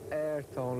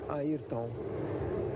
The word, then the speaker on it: Ayrton: First of all, it's not Ayrton like all Americans or English people used to say. It's Ayrton.